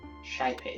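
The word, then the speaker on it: Xipe: system okay icom offline shaipe system i would not have guessed that's how that's how you pronounce that i would have just no shaipe x-i-p-e which is way the heck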